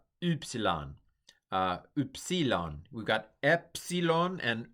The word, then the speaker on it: Upsilon: Upsilon. Upsilon. We've got epsilon and upsilon. But this is u, more like the German or French u.